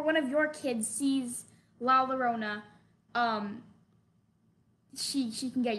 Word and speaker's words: La Llorona: love this go ahead first of all it's la la rona la la rona okay good and second of